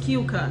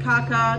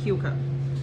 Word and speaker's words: Keuka: Yep, and it's pronounced Keuka, not Kaka, not Kuka, Keuka.